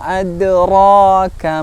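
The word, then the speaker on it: أدراك: Nah, biasanya masih kita dapati ketika mengucapkan huruf qalqalah itu seperti apa? Wa ma ad. Nah, seperti berhenti, ad. Nah, wa ma adra, nah, kurang tepat. Nah, maka yang tepat hanya memantulkan huruf tersebut. Wa ma adraka mal qari'ah. Nah, seperti itu.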